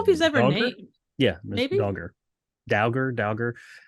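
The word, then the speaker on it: Dauger: he's ever yeah maybe dagger dagger it look it's d-a-u-g-e-r so I'm gonna go with dogger Doge he's a doge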